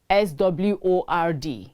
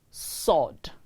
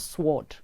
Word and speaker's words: sword: talking about silent words the letter w is silent in the word s-w-o-r-d it is pronounced sword the w is silent sword not sword the letter w is